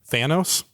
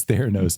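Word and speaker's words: Theranos: Elizabeth Holmes oh oh Andy Andy Thanos oh K I said it wrong it's not freaking K Theos Theos is correct dang it yes we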